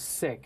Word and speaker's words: Sikh: Can you describe the difference between it and what Sikh actually is? And it's Sikh, not Sikh, right? No, it's Sikh. I mean, there are people that pronounce it as Sikh, right? But it's Sikh.